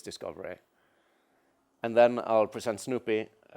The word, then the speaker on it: SnoopEE: what a service discovery and then i'll present snoopy it's pronounced Snoopy it used to be called snoop